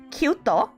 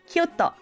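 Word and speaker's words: ℃-ute: was this group called Kyuto. Okay. It's spelled as C-U-T-E, and then towards the end it's a symbol of the degrees. Okay. Yes, Kyuto. It's a play on words for like 9 degrees.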